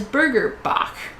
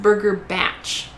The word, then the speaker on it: Burger Bach: But I would pronounce that as Burger Bach, right? Bach as in like the German composer. And we kept like joking about it like Burger Bach, you know, just like really, really making fun of the name. And we get in there and then it says that it's pronounced Burger Batch. And like it's apparently some New Zealand sort of themed burger place.